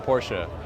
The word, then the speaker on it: Porsche: Is it pronounced Porsche or Porsche? I think the actual way is Porsche, but American people say Porsche.